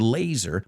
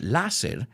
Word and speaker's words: laser: you recognize the word laser but we don't pronounce it lasil we say laser laser precision and then